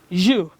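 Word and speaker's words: ewe: we're still on homophones they sound alike but they have different meanings look at this the next sets of homophones you and you you and you one is spelt e-w-e another one is spelt y-e-w amine is you are eager to know what they mean sure we'll be there you a female ship a female ship is called you e-w-e and a red berry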